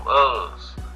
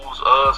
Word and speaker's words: Uz: a man in the land of Uz, or Uz, however you want to pronounce it.